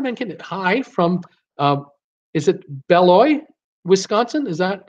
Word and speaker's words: Beloit: Donna Mankinnon, hi from, is it Beloit, Wisconsin? Is that how I say it? I don't say the T. I don't want to pronounce the T.